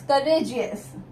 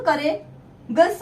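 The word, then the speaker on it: courageous: Spelling, COURAGE, करेज, अस, करेजियस, जी, अब अगर ई हटा देते तो करे गस होता, अब करेगस नहीं वर्ड होता है, करेजियस।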